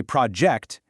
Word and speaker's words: project: If you say project, emphasizing that first syllable, it's a noun, a physical thing or a plan you're working on.